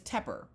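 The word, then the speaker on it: Tepper: my last name is terer it's like pepper but with a t t is in Tom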